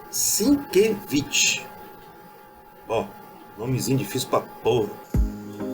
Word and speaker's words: Sienkiewicz: pronuncia-se sinkevich bom nomezinho difícil pra Opa